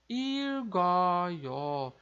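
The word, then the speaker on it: 읽어요: A gente vai ler como irgoyo, irgoyo, que é como se a gente falasse eu leio, você lê, ele lê. Então fica irgoyo, irgoyo. Então vejam que agora a gente está pronunciando tanto o som do nosso L e R quanto o som do nosso KG, que agora passou aqui para o lado e ficou com som de G, porque é como se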